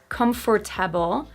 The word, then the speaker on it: comfortable: A similar thing happens in number 10, comfortable. Not comfortable, but comfortable. Comfortable. The stress syllable is so strong that the one after it pretty much disappears.